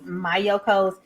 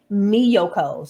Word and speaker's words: Miyoko: made a video and i was pronouncing this my yokos it is pronounced and she reads right it reads right here in the back miyoko so i apologize for